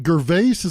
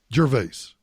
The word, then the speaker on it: Gervais: as much as possible is it ger vases that he pronounces Ricky's last nearing Ricky Gervais your vase yeah your vase and by the way